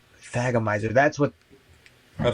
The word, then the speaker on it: thagomizer: Oh, it's Thagomizer. That's what A Thagomizer? the pronounce Is that that what the right.